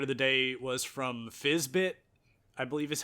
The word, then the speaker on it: Fyzbyt: My favorite of the day was from Fizzbit, I believe is how you say his name.